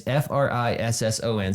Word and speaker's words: frisson: It's either Frisian or Frishon. I don't know exactly the way to pronounce it. I think it's Frisian. It's Frisson.